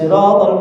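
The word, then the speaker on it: صراط: Ihdinas siratal mustaqim.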